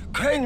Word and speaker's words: Crane: no my name's crane crane rhymes with train and brain and sane and grain and rain and plane and the other kind of plane and and can i